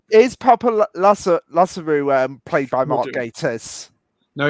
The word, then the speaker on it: Papa Lazarou: Papa Lazarou. Papa Lazarou.